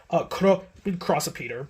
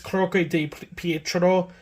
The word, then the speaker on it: Croce di Pietro: Crossopeter, but it's Croce di Pietro, which is basically, it